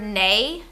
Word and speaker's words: neigh: Do you know what the word neigh means? N-E-I-G-H. It is the cry of a horse. It sounds like the word nay, N-A-Y, which means to cast a no vote.